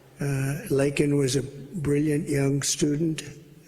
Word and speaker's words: Laken: months of prodding him Biden couldn't pronounce her name he said uh he said Lincoln linol Riley and Lincoln Riley's the football coach the coach and